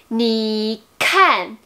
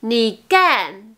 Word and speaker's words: 你看: Mais si on dit ni can, déjà, ça n'existe pas.